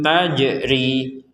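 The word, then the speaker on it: تَجْرِي: Nah, jim sukun ini kita pentalkan atau dipantulkan ketika membacanya. Jadi kita membacanya taj. Jadi tidak sekedar taj, tidak sekedar taj.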